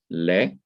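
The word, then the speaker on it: לְ: So we can call these prepositions le, that is the simple schwa, is underneath it, and it is pronounced like the e in because or au revoir.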